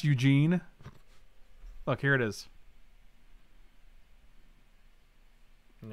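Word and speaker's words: Ugin: they had that for our ugen it's pronounced eugene look here it is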